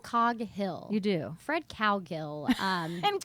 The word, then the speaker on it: Coghill: Do you say Coghill? Coghill.